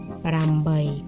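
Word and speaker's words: ប្រាំបី: เล่น แบบ จะ ออก เสียง ว่า รำ บ่อย ปราม ใบ ก็ คือ 5 กับ 3 แปล ว่า แปะ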